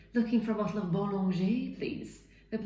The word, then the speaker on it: Bollinger: you, sadly, which is, it's not Bollinger, it's Bollinger. But this is another problem. How can I go into Tesco or Asda and say, looking for a bottle of Bollinger, please?